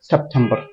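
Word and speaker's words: September: gust হ্যাঁ তারপর আসি সেপ্টেম্বর সেপ্টেম্বর সেপ্টেম্বর এভাবে করে বলি ফ্ল্যাট ফ্ল্যাট হবে না সেপ্টেম্বর হবে না বলতে হবে সেম্ব এটাকে আমরা এখানে ঠ উচ্চারণ করি টি এর ক্ষেত্রে ঠ উচ্চারণ হবে ঠ হুম কিভাবে এ সে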